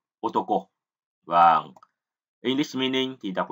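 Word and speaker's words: 男: Âm ông Yomi của chữ nam thì chúng ta đọc là Dan và Nan. Âm cưng thì là Otoko.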